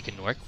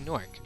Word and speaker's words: Gnorc: Why don't Americans pronounce the G in nasty gnorc? Because the G is silent. We don't say good nasty gnorc. We say nasty gnorc.